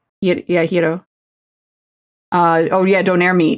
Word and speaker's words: gyro: Yo, yes, I have been told that's how it's pronounced. Don't say don't say gyro. Yeah, it's hero. Yeah, hero.